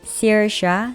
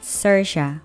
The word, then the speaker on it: Saoirse: 이름 철자 역시 아일랜드식이라 독특한데요. Saoirse, Saoirse 모두 맞는 발음이라고 하네요.